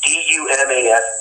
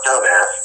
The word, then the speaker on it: Dumas: small town called Dumas, D-U-M-A-S, Dumas, not dumbass.